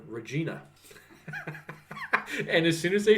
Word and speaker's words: Regina: then I was like nope it's like vagina but with an R well I'm not how